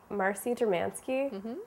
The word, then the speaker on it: Marcy Dermansky: cooking the books today i have with me marcie dramansky is that how okay we're off to a